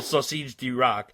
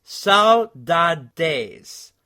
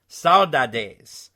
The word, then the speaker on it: Saudades: issue on your pronunciation, the Extreme album, Saudades, D-Rock, which we like to call Sausage D-Rock, is the pronunciation of the word. It's Saudades. Saudades. There is no exact translation of the word, but it means longing or missing.